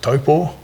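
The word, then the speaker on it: Taupō: So grew up in New Zealand, a nice place called Lake Taupo, or as the locals pronounce it, Taupo.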